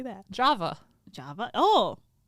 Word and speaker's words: Java: be talking about um I don't know if it's Hava or yava or Java um j a v a like the coffee I don't know how do you say that Java Java oh like Java